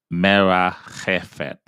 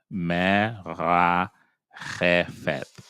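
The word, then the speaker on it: מְרַחֶפֶת: And now we have our Pei here, but there's no dot in the middle, meaning what? It's going to be pronounced F, as in Frank, an F sound. Fate. Fate. Faith. Faith. Jefet. Mera Jefet. Mera Jefet.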